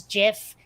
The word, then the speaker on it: GIF: then Jag or Judge Advocate General would be pronounced J and it's not so I'm sorry the word is Giff and if you don't think so [ __